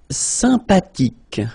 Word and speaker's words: sympathique: Sympathique. Remember the H is not pronounced.